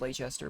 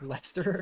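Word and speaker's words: Leicester: glance i would say i thought it was late chester but it's lester the bravest commander that's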